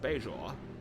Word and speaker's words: Bajor: do space nine uh everyone said we pronounced bajor wrong but they say it both ways picard though is like beijoin so gotta deal with